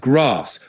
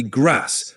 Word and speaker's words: grass: In British English, especially Southern accents, it's pronounced like grass with a longer A. In American English, it's usually grass with a shorter A.